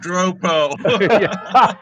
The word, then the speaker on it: Dropo: Walt Dro oh it's it's pronounced dropo not today well those